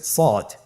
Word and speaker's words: ص: শুরুতে আমরা শুরু করছি সদ। সদ হরফটি পুর হরফ, মোটা হরফ, উচ্চারণের ক্ষেত্রে মোটা করে পড়তে হবে এবং উচ্চারণ করার সময় 3 আলিফ টেনে পড়তে হবে।